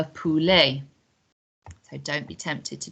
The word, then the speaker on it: poulet: on the end but we don't pronounce that t so it's la poulee so don't be tempted to change your pronunciation because it doesn't look like how you expect le polly next one and this